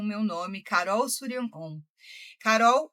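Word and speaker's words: Shuryanom: Suryanon se escreve S-H-U fazendo Sul, R-Y-A-N, Suryan. E depois O-M do mantra OM, porque sim, nós precisamos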